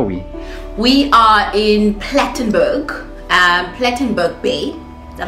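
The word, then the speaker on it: Plettenberg Bay: We are in Plattenburg, Plattenburg Bay. Is that how you pronounce it?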